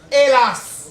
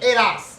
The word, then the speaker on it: hélas: déjà c'est pas je je veux pas entendre le h là hélas c'est hélas il y a pas de paresse dans la prononciation on dit hélas on ne peut pas